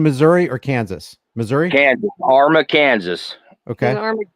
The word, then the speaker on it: Arma: Buckle that's in Missouri or Kansas Missouri Kansas Arma Kansas okay it's a small it's a small little town uh they all protect each other in fact they've uh give me the city against spell it Arma a r m a okay they've had several